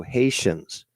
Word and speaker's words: Haitians: Consider it spelled that way, but it's Ti is always sha. So Haitians.